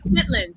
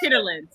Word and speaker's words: chitterlings: That's how it's spelled, but you say chitlins. You don't pronounce it chitterlins. It's chitlins.